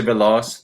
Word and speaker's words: Veloz: I say it right Lucy veloz the laws yeah like uh velocity so Lucy belos the high-flying Princess this